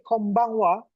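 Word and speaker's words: こんばんは: Konbanha dibacanya kombang wa. Jadi ha yang berdiri sendiri berada di tengah kalimat atau berada di akhir kata atau kalimat dibacanya waa.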